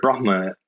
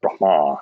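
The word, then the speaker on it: Brahmā: And I think, the idea of Brahma as a deity, or literally in Sanskrit, it should be pronounced Brahma. There's a long A at the end with a line across the top when transliterated into English.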